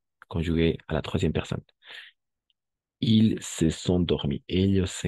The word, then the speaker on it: ils: ils. Oui, très bien, merci. C'est il. Et oui, mais on va prononcer il, tout simplement.